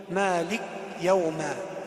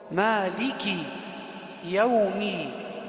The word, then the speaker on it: مالك يوم: او تلك كلاهما صحيح لكن الخطا الذي يقع فيه بعض الناس هو يسكن اللام يقول مالك يوما مالك يوما وهذا خطا والصواب هو الكاف مكسوره مالك يومي والميم كذلك مالك يوم الدين لا نقول مالك يوم